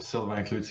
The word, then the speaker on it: Sylvain Cloutier: your name earlier it's how do I pronounce it Sullivan kutia all right what yeah it's a French name yes or silver ute yeah that's the French way but I still yeah